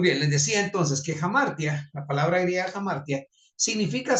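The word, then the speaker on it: ἁμαρτία: traducida como pecado en el texto griego es hamartia jamar se se pronuncia pero es hamartia h a m a r t y a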